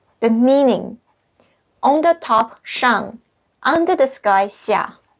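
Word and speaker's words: 上: means on it's like a table so the pronunciation is shang okay remember maybe you can write learn you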